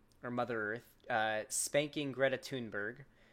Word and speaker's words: Thunberg: I like to think that he's probably actively yes, it's pronounced Thunberg, Chad Boris. It's Greta Thunberg.